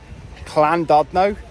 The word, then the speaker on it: Llandudno: We're at Llandudno, must get the pronunciation correct, and we are going to be doing some filming locations.